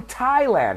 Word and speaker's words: Thailand: cheese right someone from Thailand we don't pronounce the th we pronounce it like